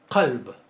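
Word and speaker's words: قلب: Una se pronuncia con qaf y la otra se pronuncia con kaf. Una es qaf y la otra es kaf. No sé si notan que la pronunciación de esta es más atrás en la garganta, ¿verdad?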